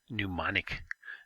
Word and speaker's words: mnemonic: words it's called a mnemonic device that capital m right there is silent it just starts with an in mnemonic means to remember things